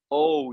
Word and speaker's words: Ou: romanization uh and basically in chinese oh you the pronunciation is exactly o just like the way we sound the way it sounded